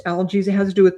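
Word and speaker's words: Algiz: This is called algies in Nordic, pronounced algies.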